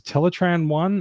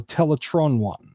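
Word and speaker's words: Teletraan I: for Energon there were two different pronunciations of the name of the computer in the one episode that was teletraan one or teletran one depending on which character was saying it that is that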